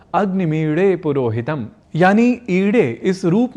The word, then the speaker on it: ईडे: हमें ईडे ऐसा ही शुद्ध प्रयोग करना चाहिए।